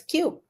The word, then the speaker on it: Kiu: when you pronounce it it sounds like a little bit a little bit like Q like it's so cute so that's why the